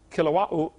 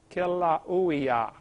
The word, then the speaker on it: Kilauea: Basalt from Mount Kilauea, however you say that. They pronounce every vowel over there in Hawaii. Kilauea, Kilauea-iki, something like that.